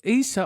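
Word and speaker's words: Issa López: Isa Isa Isa Lopez let me pronounce that correctly a Issa is Issa oh I was right the first time Issa uh Lopez wasn't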